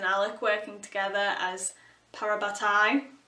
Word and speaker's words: parabatai: Alec working together as parabatai I'm pronouncing it correctly this time not saying parabot like I used to but seeing them